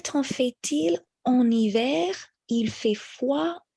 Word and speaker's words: fait-il: So here with fait-il, we also carry the T for the next word, which begins with a vowel. Donc, quel temps fait-il en été?